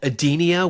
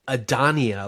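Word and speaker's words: Edenia: Um, but anyway, Khan shows up and he takes over um Adenia, which by the way, it's spelled E D E N I A. I thought they were calling it Adia, like like Adele or Anyway, whatever.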